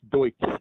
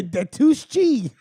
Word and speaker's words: Deutsche: was popping yeah it's it's pronounced deutsch deutsch thank you sir deutsche deutsch bank i'm like a de tuschi deutsche bank right